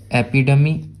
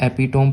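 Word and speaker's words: epitome: Synonym इसको हो जाएगा एपिडमी, इसको अगर आप एपिटोम पढ़ रहे हो ना, कोई बात नहीं, अब से आप इसको सही प्रोनाउंसिएशन करना, मतलब कि सही इसका उच्चारण ये है एपिडम, एपिडम, ठीक।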